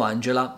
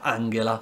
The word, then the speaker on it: Angela: il nome della cancelliera angela italiano tutti dicono angela ma in realtà si pronuncia angela esatto e poi questo suono si trova per